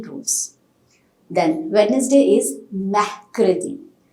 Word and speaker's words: mercredi: I'll tell you why we are not pronouncing R when we discuss about pronunciation rules. Then Wednesday is Mercredi.